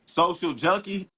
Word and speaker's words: Social Junkie: times I tell you you still say it wrong is junkie Social Junkie oh social yeah I